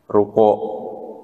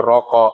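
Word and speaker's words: ركوع: ini bacannya apa Pak rukuk nah orang Jawa bilang bacanya bukan rukuk tapi rokok Iya kan warkaau dan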